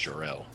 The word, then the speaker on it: Charles: dusk let me uh spelled like charles but it's pronounced jarrell put that picture up